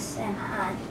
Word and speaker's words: Samhain: It was called Samhain, but people pronounce it as Samhain.